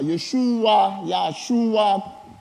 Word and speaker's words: Yeshua: Yeshua, foi a maneira de pronunciar.